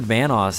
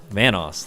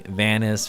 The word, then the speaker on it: Vanoss: funny now because there's a lot of people that can't pronounce it you know people call me vanis Vos you know venuse I've been getting a